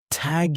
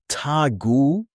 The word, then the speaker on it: Tag: For example Tag, you don't say Tagu. You stop clean.